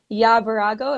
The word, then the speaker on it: Birago: I'm really excited to be here with Birago. Am I pronouncing that correctly?